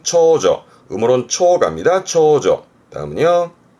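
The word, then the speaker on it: 長女: 발음은 초조.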